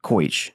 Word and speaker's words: Kaletsch: And actually, we had a German exchange student who came to Biloxi High my junior year, and she told me that it's pronounced Koich.